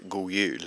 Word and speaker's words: god jul: Some people drop the D when they say god jul. So they say god jul. So they just roll on into the J, which is pronounced as a Y.